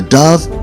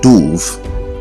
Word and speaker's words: dove: a type of bird we often pronounce this word as doof instead of Dove the word dub rhymes with love and if you can't pronounce love as love then you should not pronounce Dove as Doof same thing goes